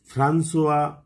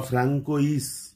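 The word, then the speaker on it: François: সর্বপ্রথম যে ভদ্রলোক ব্যাখ্যা করেছিলেন তার নাম হল ফ্রান্সোয়া Viet F আর এন সি ও আই এস বা ফ্রাঙ্কোইস আমরা এরকম উচ্চারণ করি কিন্তু এর আসল উচ্চারণ হচ্ছে ফ্রান্সুয়া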